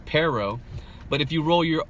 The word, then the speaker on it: pero: fatal now listen to the English pronunciation first pronunciation first it's pero but if you roll your if you roll